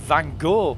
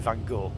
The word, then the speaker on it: Gogh: I don't even know why they call it Van Gogh. Because I think the way the Dutch pronounce his name is like cock with G. Goch.